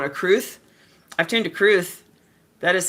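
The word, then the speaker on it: crwth: I've tuned to Cru that is spelled C R WT H.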